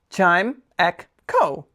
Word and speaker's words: Chimecho: For everyone's favorite segment of the day, Pokemon pronunciation of the day. Chime, ek, ko.